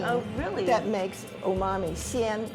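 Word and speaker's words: 鲜: Xian, it's pronounced xian.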